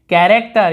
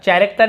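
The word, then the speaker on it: character: यहाँ पर भी देखेंगे कैरेक्टर, यहाँ पे एच में लिखना भूल गया था मैं, कैरेक्टर, चैरेक्टर नहीं बोले, कैरेक्टर यानी होता है चरित्र, कैरेक्टर कैसे है।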